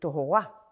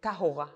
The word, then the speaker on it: tahara: These days of purification, "tahara", or it should be said "tohora", or "tahora" according to the Sephardi pronunciation, these are days when